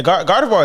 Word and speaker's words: Gardevoir: Tap your hip to the syllables. It's GARDEVOI.